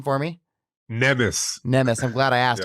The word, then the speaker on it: Nemes: Pronounce your last name for me. Nemes.